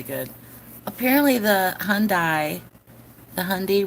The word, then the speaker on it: Hyundai: apparently the Hyundai the Hyundai rhymes with Sunday was registered to a